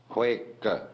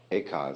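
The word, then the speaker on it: 慧可: Bodhidharma had a pupil by the name of Eka, Huike in Chinese. Eka is Japanese pronunciation, like Zen is the Japanese pronunciation of the Chinese Chun.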